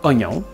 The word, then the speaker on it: oignon: On a enlevé le I muet à oignon, mais on l'écrit toujours dans mognon.